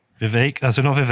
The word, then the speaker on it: Vivek: Rama Swami Rama Swami Vivek like cake Vivek that's enough of X